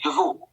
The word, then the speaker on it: DeVault: So the way we pronounce is, or the way they would pronounce it in Paris would be DeVaux. Monsieur DeVaux.